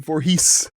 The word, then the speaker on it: Voorhees: Oh, gosh, he said Voorhees. How do you pronounce that?